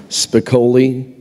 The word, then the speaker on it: Spicoli: must say it again Jeff one syllable Spicoli right and Italian evidently which is not the